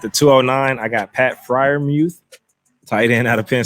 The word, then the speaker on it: Freiermuth: All right, at the 209, I got Pat Freiermuth, tight end out of Penn State.